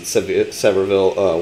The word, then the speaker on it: Sevierville: I think it was, we pronounced it Sevierville when I lived in Tennessee.